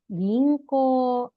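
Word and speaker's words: 銀行: Gi en ko u. Ginkgo. Ginkgo dibacanya ya. Ini huruf gi, ini en, ko u. Ginkgo. Koknya panjang. Tidak dibaca ginkgo, tidak, tapi ginkgo. Ginkgo.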